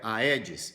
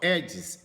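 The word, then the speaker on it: Aedes: Taia você fala tênia assim como o mosquito não é a edes você escreve a eds Mas você fala edes egti OK então escreve taé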